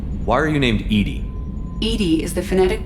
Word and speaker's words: EDI: E.D.I is the phonetic pronunciation of E.D.I.